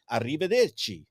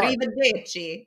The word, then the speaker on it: arrivederci: Ciao, arrivederci. Oh, I'm That's gonna so roll your R. arrivederci. Did I say it right? Beautiful, yes, Okay. arrivederci.